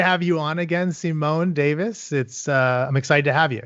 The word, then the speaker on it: Davies: I say Davis, but Davies is fine. Oh, really? You say Davis? Davis, yeah. It's a Welsh pronunciation. Wow, and it's got the IES though, huh? Yeah, in the UK, if you say Davies, you say Davis, and everywhere else, you just say Davies.